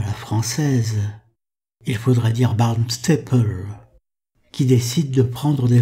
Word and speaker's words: Barnstaple: C'est l'histoire d'un journaliste anglais, Monsieur Barnstaple. Je prononce ce nom à la française. Il faudrait dire Barnstaple, qui décide de prendre des vacances.